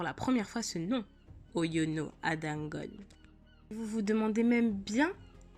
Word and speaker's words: Oyono Ada Ngone: l'histoire aujourd'hui ce créneau oyono à dongo et oui faites attention à la prononciation parce que le nom ne se prononce pas de la même manière qu'il s'écrit et oui et oui